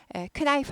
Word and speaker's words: knife: K가 묵음이다. 묵음. 네, 그래서 knife 하지 않고 knife 이렇게 되고요.